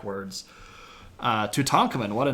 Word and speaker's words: Tutankhamun: So if you say Tutankhamun, you're putting the K and the A together, but the Egyptian syllable would have broken between the K and the A. So it's Tutankhamun.